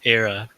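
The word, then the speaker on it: Ayra: It's not Arya, it's Era. Ira. Or Ira.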